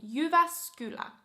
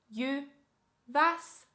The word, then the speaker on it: Jyväskylä: But yeah, you would pronounce it Jyväskylä. Jyväskylä. Jyväskylä. Jyväskylä.